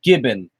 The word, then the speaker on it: Gibbon: Havana Island okay but make sure to name it Gibbon because that is the proper pronunciation of my name he hung the pterosaurs